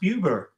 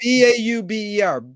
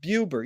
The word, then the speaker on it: Buber: Oh, I think it's pronounced Buber. It's Martin. Bauber. Buber. You're right.